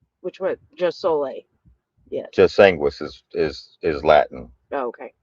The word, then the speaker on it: jus sanguinis: And the other one is jus anglo senium. How do you say it? Jus sanguinis.